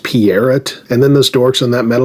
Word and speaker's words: Peart: Remember how our whole lives we've always said Neil Peart? Wasn't it painfully aggravating when he suddenly started correcting everyone, saying it was pronounced Peart?